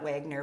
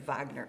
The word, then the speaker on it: Wagner: is pronounced as a V, like Richard Wagner, not Wagner, but Wagner, Richard Wagner.